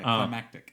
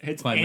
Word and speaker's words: climactic: Pronounce the T. Yeah, climactic. This sounds like it's Climatic.